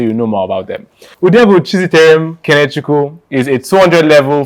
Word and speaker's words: Udebu: I pronounced your surname right, did I? Udebu.